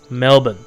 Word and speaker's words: Melbourne: It's Melbourne. Melbourne. Melbourne. Drop the R and just say Melbourne. Almost like silent R. Treat it like a silent R.